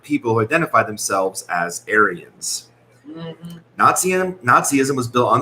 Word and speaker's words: Aryan: It can be pronounced both ways. Okay. But it's more Aryan.